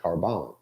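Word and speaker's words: korban: I mean, that it's a Greek word, not a Greek word, it's a Hebrew word that was transliterated into Greek and is still pronounced carbon.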